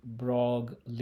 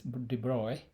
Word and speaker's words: de Broglie: a D bro uh it's a French name so whole bunch of thing written down without pronouncing them it's not drogue le it's not that okay so this de Bruy de Bruy wavelength is